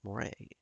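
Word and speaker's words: 漏れ: Mid-2000s Japanese internet culture even had its own special pronoun, more, pronounced like more, like the eel.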